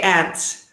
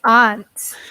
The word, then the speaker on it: aunt: How do you say aunt? I would say aunt. Okay. Aunt. So this is a difference because Emily's from the UK, I'm from the US. So you can hear live the different pronunciation.